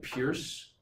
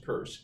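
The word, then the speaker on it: Peirce: it was Charles Sanders purse it looks like Pierce when you'd it's written down but it's pronounced purse his dad was a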